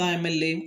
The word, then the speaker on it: MLA: This is not Ma, but here is abbreviation. And we have to pronounce M, A. So the pronunciation begins A.